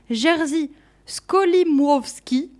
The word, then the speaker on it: Jerzy Skolimowski: Je vous parle de I.O., qui s'orthographie E-O, un film de, attention pour la prononciation, Jerzy Skolimowski.